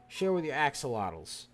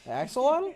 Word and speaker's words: axolotl: Be sure to share with your axolotls, ladies and gentlemen.